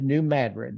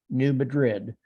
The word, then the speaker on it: New Madrid: um by the way it is New Madrid it is not New Madrid uh that's it's pronounced that way if you're out of the Ozarks new bourbon which became Bourbon Missouri also in 1793.